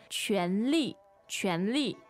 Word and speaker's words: 权力: 权力，权力。 So this is kind of like power or authority. 是的，在办公室里，在公司里，权力很重要哈。 Right. So that's second tone, fourth tone, right?